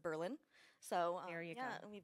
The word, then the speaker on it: Berlin: We also have in Marathon County a city that's named after Berlin, but we pronounce it Berlin.